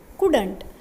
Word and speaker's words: couldn't: In this slide, let us see some words of this poem and their pronunciation. First word is couldn't. C-O-U-L-D-N-O-T. Couldn't.